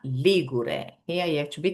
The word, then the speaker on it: Ligure: Instead, the adjective is Ligure. The stress is on the first syllable.